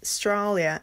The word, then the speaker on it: Australia: So, Australia is Stralia and particularly is particularly.